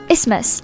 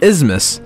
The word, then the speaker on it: isthmus: them read it exactly it is actually pronounced Isthmus ismus ismus what happened to the thief don't bite your thumb don't pronounce the th tashik Asylum letters so Isthmus the Isthmus I know it sounds weird but that's just how it pronounced so I don't know